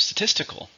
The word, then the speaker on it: statistical: So then we also have statistical. Same meaning, but it's an adjective. How many syllables are in statistical? 4 stresses on the second. Statistical.